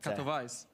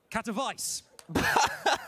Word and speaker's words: Katowice: What is the correct pronunciation? Katowice. Katowice.